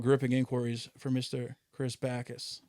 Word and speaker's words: Bacchus: Chris Bacchus. Bacchus, actually.